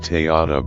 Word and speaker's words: Tadyatha: When chanted in Tibetan monasteries and Dharma centers, this mantra is often prefaced with Tadyatha Om. Tadyatha, often pronounced Tayata by Tibetans, means it is like this.